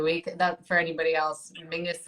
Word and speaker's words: Menzies: that for anybody else mingus is how weirdly the scottish people um that's that's how they would pronounce menzies i don't understand where